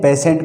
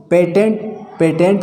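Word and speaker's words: patient: ठीक है, आगे देखो पेशेंट, पेशेंट का मतलब होता है रोगी। अब इसको पेटेंट नहीं पढ़ेंगे, पेटेंट नहीं पढ़ेंगे, इसको हम क्या पढ़ेंगे, पेशेंट।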